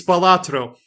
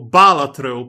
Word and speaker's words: Balatro: Anyway, it's Balatro. Or, as I have always pronounced it up until 2 minutes ago, Balatro, because it's very similar to an Italian word, which is baratro, which means cliff or precipice.